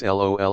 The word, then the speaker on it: LOL: We also don't read / say the letters L, O and L, but we just pronounce LOL as in lollipop.